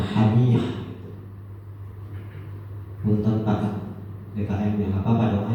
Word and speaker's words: Haniyeh: Sebelum saya lupa baca doa buat Syekh Ismail Haniyeh, Turkinya Haniyeh ya, dibacanya Haniyah.